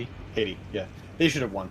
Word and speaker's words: Haiti: Is that how you pronounce it? He hati Haiti.